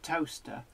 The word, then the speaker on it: Towcester: at a sign for toaster. There is a place in the UK called Toaster, but it's not spelt toaster. It's spelt Towcester.